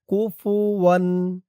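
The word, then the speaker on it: كفوا: ওয়াও ২ জবর ওয়ান, কুফুওয়ান, কুফুওয়ান। ওয়ালাম ইয়াকুল লাহু কুফুওয়ান।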